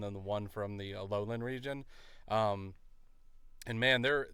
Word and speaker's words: Alolan: Wait, is that Galleran? Uh, it's uh Alolan. No. Oh, okay. I said it right the first time.